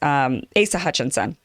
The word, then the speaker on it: Asa Hutchinson: how do you say ace's name it was asa hutchinson now what happened yesterday was that the legislature